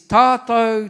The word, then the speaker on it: tātou: And then the second line says tātou, tātou e. So tā as in the sticky stuff on the road, toe as in your toe on your foot, and ear as in your ear over here.